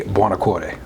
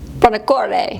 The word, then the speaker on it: Buonacore: The Italian way, the U is pronounced. It would just be Buonacore. Buonacore.